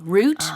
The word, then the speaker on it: route: So ROUTE, the spelling might throw you off if you see the word for the first time, but it's just pronounced just like the root of a tree.